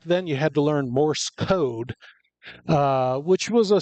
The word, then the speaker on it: Morse: You don't and for I think 45 years of my life I was mispronouncing it. I was saying Morris code. It's not Morris. It's one word Morse.